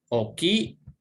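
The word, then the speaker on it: 大きい: Oki, ini O artinya besar, harus dua O-nya. Kalau ditulis dengan hiragana.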